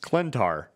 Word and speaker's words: Klyntar: donnie case went to twitter and said it's pronounced clentar and then he went on to clarify that